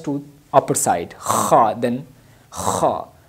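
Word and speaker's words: خ: Then kha, its sound is special, kha, like kha. So this is kha.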